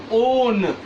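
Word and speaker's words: -one: को कीटोन्स का suffix ओन, वैसे तो ये इंग्लिश टेक्स्ट में 1 लिखा है बट यहाँ केमिस्ट्री में इसके सफिक्स फॉर्म में हम इसे प्रोनाउंसिएट करते हैं ओन, ONE.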